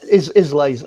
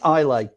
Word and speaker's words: Islay: Well, Islay's Islay. It's pronounced Islay. Okay, perfect. It's got a silent S.